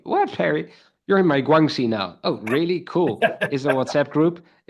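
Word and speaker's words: 关系: Is it Guaxi? Well, how do you say it? Guangxi.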